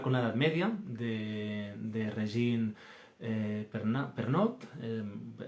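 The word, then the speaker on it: Régine Pernoud: la Edad Media, de Regine Pernot. Lo digo, es francesa, es una autora francesa, y yo pues lo pronuncio así, pero bueno, quien quiera pues lo puede buscar.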